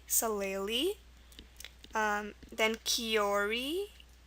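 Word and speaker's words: kiore: l e l e e salel um then kiori k i o r e and then h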